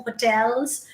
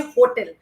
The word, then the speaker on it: hotel: when it comes to hotels don't say hotel this hotel was very nice please just know hotel hotel right I know some students